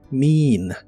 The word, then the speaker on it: mean: el presente es mean se pronuncia con la i larga o doble mean me en el presente